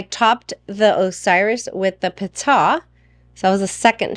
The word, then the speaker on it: Pita: It's Pita.